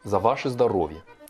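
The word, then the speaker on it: за ваше здоровье: Alors, ça s'écrit Zavache Zdorovie, mais c'est Zdorovie, ça se prononce.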